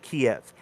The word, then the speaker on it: Kiev: said last week that they pronounce it keith russians pronounce it kiev you just it you